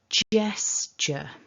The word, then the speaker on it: gesture: two syllables and that the strongest syllable the stress of this word is at the beginning so that's gesture jess so jess gets your stress stress the jess so thinking about that